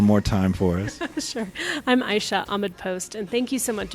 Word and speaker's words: Aisha Ahmad-Post: up so I'm gonna let you let you pronounce it one more time for us I'm I shot a mid post and thank you so much it's been a